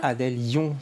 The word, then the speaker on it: Adèle Yon: Adèle Lyon, je prononce bien, ça va?